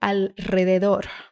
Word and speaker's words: alrededor: Então, dica para quando você começar a travar, divida a palavra em sílabas. Alrededor. Alrededor. Alre, alre, alre, alrede, alrede, alrededor, alrededor. Perfeito.